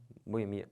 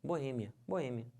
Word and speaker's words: Boêmia: finalizando essa palavra aqui que o pessoal fala como Boemia né Boemia tá errado certo é minha Boêmia Então você separa assim uma boa hein a sílaba tônica é esse e que já tá até acentuado não pode falar